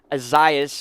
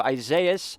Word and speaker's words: Isaias: chances are will be azias which i believe is the correct pronunciation instead of isaias a lot of you